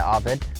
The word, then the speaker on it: Arvid: So my name's Arvid. It's yeah, that's how you say it, Arvid.